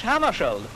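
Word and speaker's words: Hammarskjöld: Well, I pronounce it myself in Swedish Hammarskjold.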